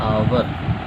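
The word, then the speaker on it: hour: इसका प्रोनाउंसिएशन जब करते हैं तो क्या होता है, आवर, और ये साउंड जो है वो क्या है, वॉवेल है, इसीलिए इसके पहले क्या लग जाएगा, एन लग जाएगा।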